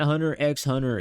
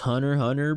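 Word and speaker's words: Hunter × Hunter: also like the whole it's not Hunter X Hunter it's Hunter Hunter bro you don't got to pronounce the X like so is it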